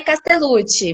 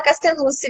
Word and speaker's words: Castellucci: O bem italiano é Castellucci, mas brasileiro a gente fala Castellucci mesmo. Eu falo Castellucci.